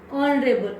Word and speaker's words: honorable: here also next example, we can't pronounce the word H. Honorable, honorable, an honorable man.